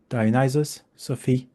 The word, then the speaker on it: Dionysophy: titled it diophy and sorry Greek people we're going to pronounce this the American way dius Sophi di Sophi and now I can